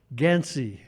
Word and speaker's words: Ganci: said here so my my name is gansy it's spelled Gan CI and to some of you that might sound Italian and I have been